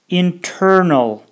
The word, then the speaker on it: internal: Ал эми interview дегенде interview же интернет дегенде internet болот, бирок тыдан кийин ударение келсе, басым келсе, анда тыны окуйбуз.